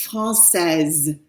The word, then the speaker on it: française: Okay, the answer is ma mère est française. There's that silent E there, and the silent E means that the S has to be pronounced when it's someone who's female.